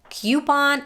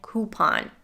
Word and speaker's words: coupon: jewelry and jewelry and the word coupon has two acceptable pronunciations coupon and coupon it's your pick of course some will say that one way is correct and the other is not but honestly both pronunciations are equally used kilometer this one is